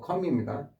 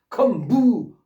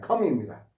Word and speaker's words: comb: 혹시 C이 단어하고 혼동되시 CB 컴 이것도 역시 M 다음에 B는 발음이 안 되니까 컴이라고 합니다.